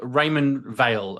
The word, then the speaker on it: Raymond Weil: Uh what was that uh Raymond Weil you had on your wrist? Uh Oh, that's the new Raymond Weil, apparently. That's how you pronounce it.